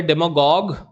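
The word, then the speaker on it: demagogue: हैं डेमगॉग जो है डेमगॉग इसको गॉग पढ़ते हैं याद रखिएगा डेमगॉग और यह भी डेमगॉगरी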